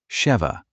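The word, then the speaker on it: שבע: In Hebrew, the word for seven is pronounced very closely, sheva.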